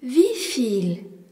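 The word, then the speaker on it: wieviel: Combien se dit vifil ? et s'écrit W I E V I E Lifil.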